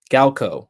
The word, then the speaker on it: Galo: Galo. Okay, cool. That one is like how it it's pronounced how it looks.